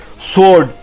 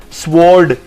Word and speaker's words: sword: And the last word is sword. It's not sword or sword, it's sword.